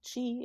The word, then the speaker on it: qi: It's pronounced ki in Japanese or gi in Korean, but it's all chi, and it's essentially energy, right?